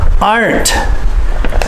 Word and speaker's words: aren't: Many Cambodians have difficulty saying the word aren't. Are-n't. You must think of the final S and the final T is an extra word, like another word almost, or at least another syllable, because it is.